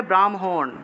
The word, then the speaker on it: ব্রাহ্মণ: তা দেখুন তাহলে ব্রাহ্মণ থাকলে ব্রাহ্মণ ব্রহ্মা থাকলে ব্রহ্মা ঠিক আছে ব্রহ্মা ব্রাহ্মণ ব্রহ্ম থাকলে ব্রহ্ম ব্রহ্ম এইভাবে উচ্চারণ করতে হবে।